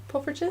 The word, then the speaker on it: poffertjes: They're called poffertjes. Yeah, poffertjes.